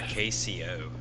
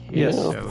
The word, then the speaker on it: queso: Queso or KCO? Uh, Queso is how it's pronounced.